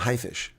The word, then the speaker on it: Haifisch: A high, maybe you pronounce it high, but high. What is a shark in German? A haifisch.